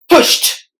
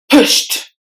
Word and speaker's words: pushed: persuading per swayed persuading pushed pushed the letter e is silent and the D is replaced with the T sound first presidency presidency prayer